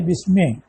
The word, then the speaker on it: بسم: اس کے بعد ہے بسمے، تو اصل اس کی بے اسمے، حمزہ چونکہ وصلی ہے تو وصل میں ملانے میں وہ گر جاتا ہے تو تلفظ میں نہیں آتا۔ اب لفظ اسم کی اصل کیا ہے؟